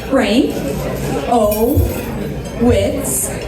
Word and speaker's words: Frankowitz: I have a very long last name. it's pronounced Frank O. Witz.